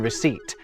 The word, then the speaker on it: receipt: So what if I were to tell you that the P in receipt and B in debt were never pronounced?